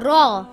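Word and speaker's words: راء: about this letter this letter is called raw ra is pronounced with a thick sound if there is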